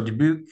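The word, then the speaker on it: Dubuque: So, Debuke and and uh apologize for my Western Canadian pronunciation if it's a little bit off, but uh in Debuke, similar sort of thing.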